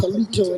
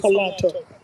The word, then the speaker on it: Halito: I hear people talking about halito and it's halato. I called Oklahoma Choctaw Nation the other day. The man said halito. I say, well, no, it's halato. You can't pronounce Muscogee language in the English pronunciation.